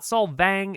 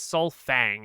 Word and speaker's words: Solfang: will remind you that it is not Solvang, it is Solfang. It is like Sunfang.